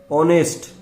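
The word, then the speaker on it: honest: ऑनेस्ट, ईमानदार adjective है ये और इसका प्रोनाउंसिएशन ओ वोवल से शुरू हो रहा है, तो इसके ठीक पहले आर्टिकल लगेगा एन।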